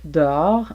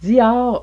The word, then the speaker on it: dehors: des hommes rentrent dedans prononciation de d'or en français québécois d or dehors on entend même parfois dior ou dos à dos voir que je n'utilise pas moi-même j'utilise d or ou d'or par exemple reste posée en